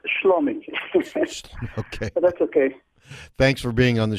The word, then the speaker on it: Shlomi: by what they do salami uh am i pronouncing your name correctly almost slummy thanks for being on